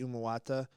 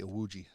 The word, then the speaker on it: Iwuji: And this team, owned by Emmett Smith and Jesse Umawata, and if I butchered your name, I apologize. Jesse Iwuji.